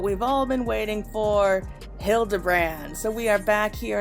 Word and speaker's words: Hildibrand: Since parting ways I've searched every alley and dive bar and every keep for signs of this Bildy Grand character. It's pronounced Hildebrand.